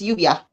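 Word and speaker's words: Lluvia: I was wondering because the double L is a U, right? I mean, it's not like the U sound, right? L-L-U-V-A is Uvia. Yes. Uvia. Thank you, Uvia.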